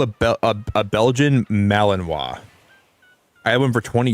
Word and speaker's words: Malinois: Okay, because I've heard people say that word before, but I never knew like how to pronounce it myself. It's called a Belgian Malinois.